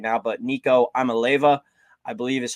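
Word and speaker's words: Iamaleava: But Nico Amaleva, I believe is how you say it, but a crazy last name.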